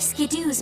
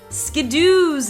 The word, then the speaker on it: Skiddo: are to believe this the way it's pronounced is a combination of skid like when you slide after you're running real fast and kiddo like a baby goat it is the baby